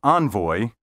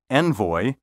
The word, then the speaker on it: envoy: The pronunciations envelope and envoy are pseudo-French. These words are thoroughly English and should be pronounced envoy and envelope.